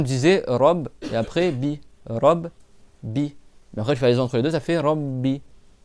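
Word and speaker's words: رَبِّ: Et là il y a de b tu dis robbi c'est pas c'est pas alhamdillah alamin ou rabi. D'accord. C'est Robbi. D'accord. R. Alors le R comme il est en fatigue la le a il se prononce. D'accord. Donc je dis Robbi.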